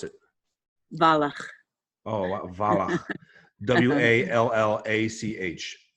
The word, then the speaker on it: Wallach: Dorit, WALLACH. So DORIT. Mm-hmm. And Dorit's last name is how do you pronounce it? Wallach.